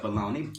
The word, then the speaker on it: bologna: Now, sometimes people mess up the spelling of bologna, but It's Oscar bologna. Mayer taught us the right way. They did. And some people, they spell it B-A-L-O-N-E-Y. Because that's the way it's pronounced.